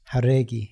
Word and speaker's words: Jauregui: on the show, and I'm saying your last name wrong, so, please correct me. It is Jauregi.